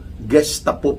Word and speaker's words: Gestapo: It is spelled golf or G e S t a p o. Gestapo po ang pag-pronounce niyan.